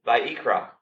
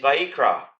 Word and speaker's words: Vayikra: It's a different word altogether in the original language, which in Hebrew, the book of Leviticus is actually called Vayikra.